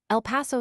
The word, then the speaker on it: El Paso: San Antonio slash has been changed to San Anton/ in popular pronunciation and seems likely to go to San Anton. El Paso Slash has acquired a flat American a and